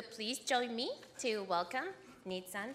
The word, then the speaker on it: Nitzan: You know the car Nitzan? That's how you say it, Nitzan, right?